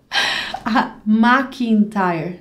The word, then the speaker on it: McIntyre: how to pronounce McIntyre McIntyre it sounds really British as an a an as an assar name McIntyre like a tire of the car okay so McIntyre Pat